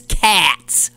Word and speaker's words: Katz: I'm sorry, Katz is Cats, okay? Now, so clearly what that was is someone in her family at some point didn't change the name, but decided to change the pronunciation so that it didn't sound Jewish. Cats is a Jewish name.